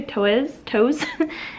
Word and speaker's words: Toews: And I know that this author, Miriam Toews, I think is how you, Toews is how you say her name.